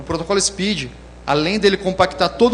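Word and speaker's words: SPDY: protocolo Speed da Google se pronuncia Speed que vem de veloz ele foi criado pela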